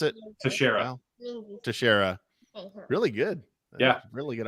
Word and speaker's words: Teixeira: So yeah, Mark Terrera, is that how you pronounce it? Teixeira.